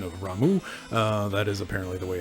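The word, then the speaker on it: Ramuh: Also, a note on the pronunciation of Ramu, that is apparently the way it is pronounced,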